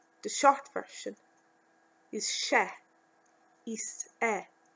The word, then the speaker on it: Is ea: Iss Eh. Commonly pronounced Shah.